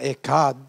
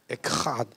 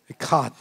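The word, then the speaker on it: אחד: Not Echad. Echad. The Hebrew word Echad, when you pronounce it, it's got to be nasal.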